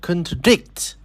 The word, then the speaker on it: contradict: For example, the word contradict. It stretchs on the syllable dict and the secondary stretch falls on the prefix con.